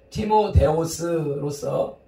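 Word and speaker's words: Τιμόθεος: 여기 디모데가 등장하는데 디모데의 원어 발음은 티모데오스로서 하나님의 영광이라는 뜻입니다.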